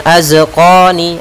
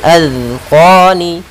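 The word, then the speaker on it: أذقان: Pada lafal zal jangan sampai mantul, jangan azqani atau az dengan zai, karena di sini zal kecil, azqani.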